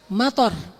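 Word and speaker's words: مطر: Mator. Harus pendek bacanya mator. Kalau kalian bacanya panjang, motor artinya airport.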